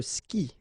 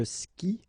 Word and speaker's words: skie: And it's exactly the same rule, so you've got this after, but then clearly you don't pronounce it, okay? Elle joue. And then, je skie, okay? Exactly the same thing, je skie, okay?